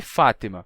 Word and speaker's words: Fátima: nome Fátima por exemplo o nome Fátima é árabe Fátima em árabe Fátima com com essa pronúncia tem um som de to to que não tem português ftima com to em português ele é adaptado pra Fátima não F mas Fátima com T normal ou até mesmo com T Fátima dependendo do sutaque da pessoa então mesma coisa